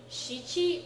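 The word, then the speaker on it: 七: Shichi and ichi and shi would all sound too much alike. So they use yon and nana for 4 and 7.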